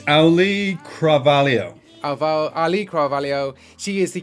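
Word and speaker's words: Auliʻi Cravalho: It's Ali Carvalho.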